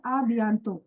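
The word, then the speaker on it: à bientôt: Here the last t is silent. It is called abanto.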